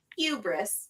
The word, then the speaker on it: hubris: ] dropping SAT words you also use the H in the word at first which is surprising but then you stopped no he doesn't hubris hubris which is how it's pronounced the hubris and so